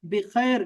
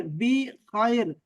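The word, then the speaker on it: بخير: बिखैर, इसको जरा अल्लाह करे आप ठीक से प्रोनाउंस कर सके कि खैर को बिखैर, बी खैर, बिखैर।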